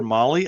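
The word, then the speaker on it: Mahle: For our podcast listeners, Molly is spelled M-A-H-L-E.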